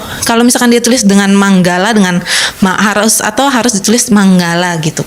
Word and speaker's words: Mangala: Sukihotu Bante, saya mau tanya, kalau Manggala Sutta itu kan penulisannya Mangala Sutta kan Bante, tapi dibacanya itu kan Manggala kan Bante.